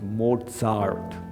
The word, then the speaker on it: Mozart: Actually, in German, it's pronounced Mozart.